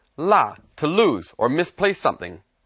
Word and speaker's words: 落: Now this character can also be pronounced luo, but here it's pronounced la, to lose or misplace something.